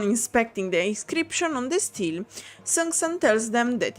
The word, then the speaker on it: stele: Because in Italian it's stele, but I don't think it's... Steel, okay. A steel that the bandits were protecting with their lives.